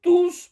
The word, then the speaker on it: tous: Attention à la prononciation de tous pronoms au pluriel masculin. Il faut prononcer le S.